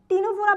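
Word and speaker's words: Ctenophora: টিনোফোরা বানানটা দেখবা। সিটা কিন্তু উচ্চারণের সময় উজ্য থাকে। এটাকে আমরা উচ্চারণে বলবো না।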